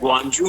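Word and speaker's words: Guangzhou: इस वक्त चाइना के शहर गंजू में हूं जिसे बहुत सारे लोग प्रोनाउंस करते हैं गुंजो और यहां पर बेसिकली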